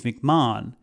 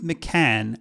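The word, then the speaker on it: McCann: in our last video I mispronounced the new CEO's name calling him Steve mcmah it's Steve mccan so I do apologize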